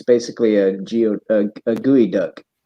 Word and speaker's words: geoduck: it's bait she says it's basically a geotag gooey duck gooey duck yeah when I first came to Washington there's actually a town named gooey duck so bigger than bigger than life itself you